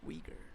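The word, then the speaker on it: Uyghur: then I was like okay it's pronounced Weger that makes sense so we girl that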